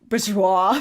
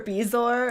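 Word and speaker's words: bezoar: so I have like he mispronounces a few things like Bourgeois for beezor and Jim Dale yeah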